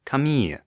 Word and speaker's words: Camille: surprise that we were pronouncing that one character's name Camille the way it's said in English where it is used almost exclusively as a woman's name instead of the French name Kami which is spelled identically